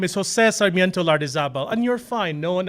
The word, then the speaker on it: Lardizabal: My legal name is Jose Sarmiento Lardizabal, and you're fine. No one ever pronounces it correctly.